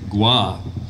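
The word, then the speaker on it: Goy: Andre gua his name is spelled G oh why and you wouldn't think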